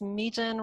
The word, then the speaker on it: Mejin: So my name is Mejin, rhymes with Mejin Leechor, if that helps.